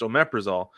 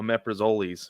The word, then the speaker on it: omeprazole: It's pronounced omeprazole, but we used to call it omeprazoles because of how it's spelled.